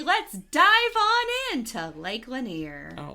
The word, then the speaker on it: Lanier: talk about Lake lener lener okay so some people say lener but people who live there say laner I used to say laner too it is correctly pronounced laner well well people that